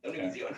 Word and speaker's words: Univision: Univision.